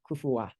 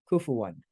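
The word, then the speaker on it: كفوًا: that case when you end on that word you have this vowel at the end kufuwa but here we're not ending on the word we just end on we're continuing on so we do pronounce the noon kufu one any questions there this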